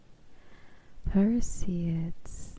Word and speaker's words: Perseids: Perseids.